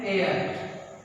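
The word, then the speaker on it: heir: An honest, N एयर, हेयर नहीं बोलते, एयर means उत्तराधिकारी, ठीक है।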